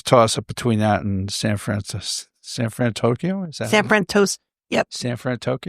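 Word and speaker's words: San Fransokyo: But in terms of, my favorite area of the park, it was a pretty close toss up between that and San Fran Tokyo.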